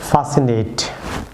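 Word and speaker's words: fascinate: Viewers এরপর ফাসিনেট, viewers এখানে C silent থাকবে, ফাসিনেট।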